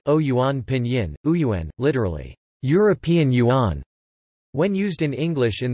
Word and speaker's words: 元: These are all pronounced yuan in modern standard Chinese, but were originally pronounced differently, and remain distinct in Wu Chinese.